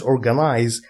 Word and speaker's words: organize: you read it as organize this is the British spelling and this is the American spelling but they both pronounce it as Z organize two teachers should